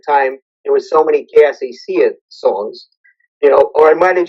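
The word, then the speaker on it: Que Así Sea: It's called Kaasasia, which means "May it be so," and the subtitle is "Puerto Rico Forward." There's a lot. I didn't realize at the time there were so many Kaasasia songs, or I might have just called it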